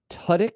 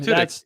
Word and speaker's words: Tudyk: It's Alan Tudyk. Is that how you pronounce his name? Tudyk.